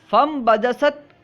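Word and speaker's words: فأنبجست: صورت لکھی ہے، یعنی فا کے بعد حمزہ لکھیں گے، نون لکھیں گے، لیکن ان کا تلفظ نہیں ہوگا، پڑھیں گے فم بجست۔ بیان کر رہے ہیں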